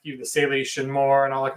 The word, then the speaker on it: Salish: I mean, both Shane and Brian, consulted with people in the area like the Salish and more and all that. Is it Salish or Salish? How do you pronounce that?